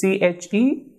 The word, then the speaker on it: che: Same with this CHE, that is CH is pronounced as che. So CH is pronounced as che, like church of English or child.